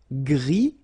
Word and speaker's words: gris: Okay, Gris, don't pronounce the S, but then for the feminine form, grise.